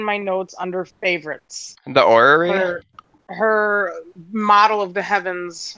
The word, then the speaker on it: orrery: The orrery.